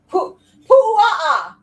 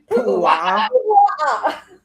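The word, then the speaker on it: puaʻa: Pu'a'a. Jesus Christ, Ashley. You're Say gonna it with me. Pu'a'a. Pu'a'a. Pu'a'a.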